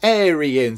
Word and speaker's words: Arian: the wheel of names, they left a little guide as to how to pronounce her name, and it's pronounced Arian.